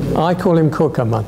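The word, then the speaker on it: Cukierman: community could not be more ashkenazic Ro caman I call him caman and they and and people told me that is the correct pronunciation C yes how he himself he calls himself caman so I think we need to respect that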